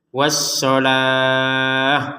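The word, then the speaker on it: والصلاة: Jadi kita bacanya itu was-shalah. Huruf wawunya tidak terbaca karena memang tidak ada harokat ya.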